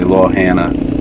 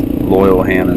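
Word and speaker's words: Loyalhanna: I've heard people say Lo Hannah, but it's Loyal Hannah Dam.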